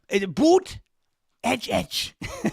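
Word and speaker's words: Buttigieg: Boot edge edge. Like the edge of a building.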